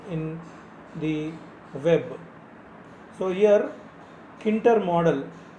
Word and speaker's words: Tkinter: So here Kinter model, spelling is Tkinter, but we have to call it as Kinter. T is silent here.